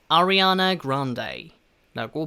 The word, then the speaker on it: Grande: Ariana Grande라고 발음합니다. 자, 일단 이름부터 보도록 할게요. Ariana 아시겠죠? 아리아나를 조금 그 R 발음을 살려서 Ariana 라고 발음을 하고요, 뒤에 이 발음, 뒤에 커피컵 종류인 Grande 라고 발음합니다.